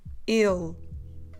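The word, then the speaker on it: ele: with this as well so he we go we start with a closed e and then we drop the last e or the last a of the word so we do ill if you don't know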